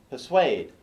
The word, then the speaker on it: persuade: Persuade. Persuade. Not pa.